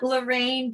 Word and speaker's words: Lorran: you so much and thanks for trying to pronounce it the french way but like i said we don't have to be fancy you could just call me lorraine oh there's a part of